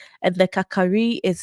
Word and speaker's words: Kakari: G, and the Kakari is spelled Kari Kari, but we say Kakari.